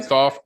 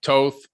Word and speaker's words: Thoth: Yeah, you can say Thoth, Toth. It's various different ways.